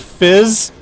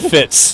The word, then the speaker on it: Fitz: I heard Fizz, not Fitz.